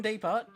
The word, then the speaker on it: Depot: Oh, actually, yes, Bluefin Depot, whatever, the T is silent.